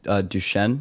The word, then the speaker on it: Duchenne: please correct me, but Duchenne muscular dystrophy, is that correct? It's actually Duchenne muscular dystrophy.